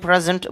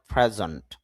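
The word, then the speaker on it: present: প্রেজেন্ট, যদিও প্রেজেন্ট বলি তবে শুদ্ধ উচ্চারণ প্রেজেন্ট, জন্ট উচ্চারণ হয়, প্রেজেন্ট।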